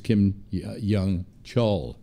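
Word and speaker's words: Kim Yong-chol: to somebody from North Korea well that was Kim Jung Cheol that's how his name is pronounced a grand jury in New York City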